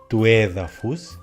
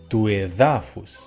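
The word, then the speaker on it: του εδάφους: Por ejemplo, toédafos, el suelo, el terreno, no se convierte en tuédafus, sino tuedafus.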